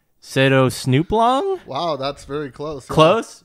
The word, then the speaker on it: Setosnooplong: it is pronounced Setosnooplong.